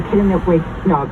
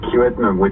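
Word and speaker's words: Kiiwetinoong: Of course, NDP, MPP for Kitinip-Wignog. I'm going to ask you to say it because I feel like I'm not saying it correctly. It's a Kiwetnug, which means north.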